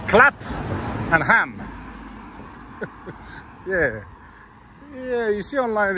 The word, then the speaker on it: Clapham: So after I filmed the National Crime Agency, I decided to come here in Clapham. I think I'm pronouncing it right. So it's Clap and Ham.